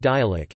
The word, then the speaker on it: dialect: It is referred to locally by terms such as dialect, pronounced dialect, Anguilla talk or Anguillan.